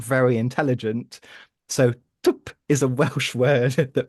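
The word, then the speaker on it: twp: The Welsh word is tup, which is spelled, it's almost impossible to say, tup, which is spelled TW with a little accent on it, P. No vowels allowed.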